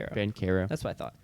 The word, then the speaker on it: Banchero: Banchero. That's what I thought. Banchero.